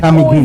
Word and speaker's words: Camiguin: So, this is the island of Camiguin. It's Kamigin. an island. Yeah. trying to learn It to has pronounce more how to volcanoes pronounce.